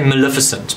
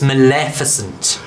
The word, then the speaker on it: Maleficent: tough to sayic is in fact the correct pronunciation I would say Maleficent but the dialect coaches would step in and go it's Maleficent I don't know how you did that I